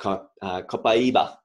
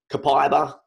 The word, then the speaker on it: copaiba: Let's not forget about copaiba, as Vanessa would so fittingly describe or pronounce copaiba. Copaiba, if you want to use Australian, or copaiba, if you want to be a true South American.